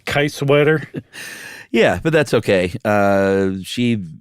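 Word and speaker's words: Kiesewetter: Can I correct your pronunciation? Yeah. I believe that would be Kaiswetter. That's much better. What did I say? Kaiswetter?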